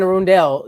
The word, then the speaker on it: Arundel: Well, you know, in Blood and Bahadeke, Anne Arundel County is spelled like my family says it. It's actually Anne Arundel, DEL, but my family always said Doll, DALL.